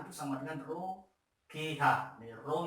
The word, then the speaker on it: rho: Rho ini bacanya rho itu massa jenis, G kali H.